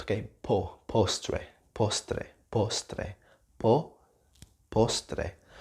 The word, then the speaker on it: postre: Just the O sound, okay? It's O sound. It's the O sound, okay?